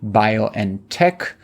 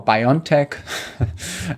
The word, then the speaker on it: BioNTech: in the mines based bio and tech which is the german pronunciation of what americans call biontech and it is um